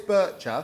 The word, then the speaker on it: Bircher: Bicca. Is it Bicca? It's Swiss. Oh, everyone says Bircher. How do you say it? Bicca, because it's a Swiss word. Okay. So, Chris, you're the expert. What do you say? I say it's Bircher, actually.